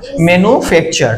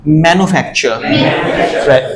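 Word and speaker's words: manufacture: এটা বলতে তাই না মেনু ফ্যাচার আসলে মেনু না এটার উচ্চারণটা হবে এরকম লাইক সিমপলি ম্যান বল ম্যানু ম্যান ম্যানুফ্যাকচার দেখো ম এ না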